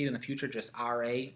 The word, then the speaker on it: Ra: the son of rey now most times i've seen it spelled r a and pronounced ra ra the sun god some have ray the sun god and your history book spells ray this way so if you ever